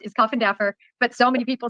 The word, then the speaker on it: Coffindaffer: Okay, so I have to tell you, that's actually how it's pronounced, is Coffindaffer.